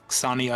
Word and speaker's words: Sonya: Because 4, yeah, they usually substitute the ya for 4, so Sonya is, as you said, is the perfect pronunciation.